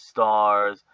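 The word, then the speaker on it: Starz: changed uh in 2016 pronounced as stars uh as an american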